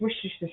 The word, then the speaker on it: Worcestershire: It's Worcestershire sauce. So, all right. Who directed the 1999 film Sleepy Hollow, which starred Johnny Depp as Ichabod Crane? Ichabod Crane. Yeah, Worcestershire, Worcestershire, Worcestershire, Worcester.